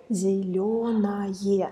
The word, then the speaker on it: зелёное: Яблоко зелёное. So we spell ОЕ, but pronounce АЕ.